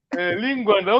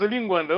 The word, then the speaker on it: Lingwanda: Lingwanda, ok, c'est comme ça qu'on prononce Lingwanda, ok.